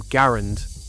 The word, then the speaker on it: Garand: That rifle was the M1 Garin or Grand if you want to spend the rest of the day arguing in the comments. The man who designed it pronounced his name Garand rhymes with errand.